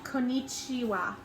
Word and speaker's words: konnichiwa: How you say hello is konnichiwa.